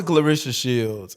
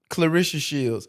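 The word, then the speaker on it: Claressa Shields: It's so hard to say her name. Clarishia. Clarishia Shields. It's such a tricky Is it tricky? Clarissa Shields. Clarissa Shields. There we go.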